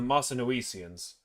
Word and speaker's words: Mossynoecians: I'm going to look up the pronunciation of this before I butcher it any more. And then I'm just going to start over. I was pronouncing it right.